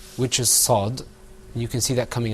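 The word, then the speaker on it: صاد: Now, you got to be careful with your sad, because if you don't purse your lips and say sad when you pronounce it, the letter's not going to come out right.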